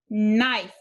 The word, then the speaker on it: knife: cross out the silent e this word is knife knife the next one has two digraphs digraph k n again the k is silent and digraph e e the first d